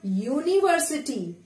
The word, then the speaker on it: university: Like read this word, university. University. So it is sounding like U.